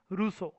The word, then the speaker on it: Rousseau: The pronunciation is, spelling सबसे पहले तो है इसकी ROUSSEAU spelling, pronunciation is रूसो, gene Jacques रूसो।